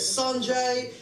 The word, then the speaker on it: Sanjay: If you want to pronounce it correctly, it's Sanjay, or you could call me Sandra if you just don't give a fuck.